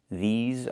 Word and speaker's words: these: Make sure you make the long e sound like green beans. These plus the z sound like in zebra and zipper z with a voice. These are these are lemons.